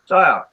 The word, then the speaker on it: Sayoc: And his name is spelled like SAYOC, Psyop.